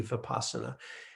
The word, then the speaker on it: vipassana: all it is but most of the time it is spelled with the v and you'll hear pronounce with the v vipassana and we translate it